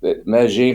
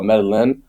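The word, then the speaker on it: Medellín: they also like the Meine for those of you that don't know some people call it medalin it's two L's but they don't know how to pronounce it it's called it's Meine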